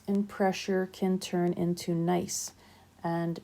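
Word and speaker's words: gneiss: pressure can turn into nice and it is pronounced nice so these metamorphic rocks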